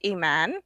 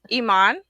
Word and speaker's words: Iman: is it iman um it's actually an arabic name so the correct pronunciation is iman but not too many people in the united states can pronounce that so iman uh you know like the model that was married today